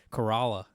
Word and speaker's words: Corolla: they pronounce it, dude, those East Coasters pronounce shit weird. Corolla. Corolla?